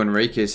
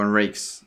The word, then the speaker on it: Enriquez: Well, it's all up to Enriquez here, really. Or Enriquez, as AFL18 said. That's how you say his name.